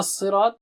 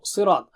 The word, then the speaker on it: صِرَاط: When you join that word with the next one, you don't say ihdina sirat, you say ihdina sirat. Anyway, let's focus on now sirat. Sa is very thick and high, you remember that, very thick and high, and ra is thick.